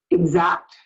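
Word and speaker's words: Ixact: It's spelled I-X-A-C-T, Exact, I-X-A-C-T.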